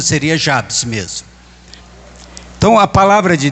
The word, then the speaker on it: Jabes: z então seria jaes mas na nossa pronúncia aqui ela se torna Jabes então o muitos fala jabis né mas na nossa pronúncia seria Jabes mesmo então a palavra